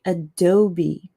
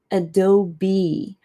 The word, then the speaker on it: Adobe: Um you say Adobe. So, think of a bee, like a bumblebee. Adobe.